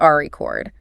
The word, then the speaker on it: record: We broke the sales record. The weight is at the front.